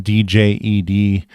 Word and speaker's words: DJED: to be coming out, DJED, with a silent D there, but that is a stablecoin that is going to be coming out on Cardano.